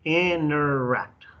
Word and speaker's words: interact: Interact, interact. That's the way you pronounce it, interact. La T casi no se pronuncia, es como interact, interact.